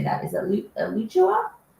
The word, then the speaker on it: Alachua: Is it Alachua?